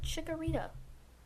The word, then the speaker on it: Chikorita: to jodo starting with Chikorita four syllables there like it Chikorita is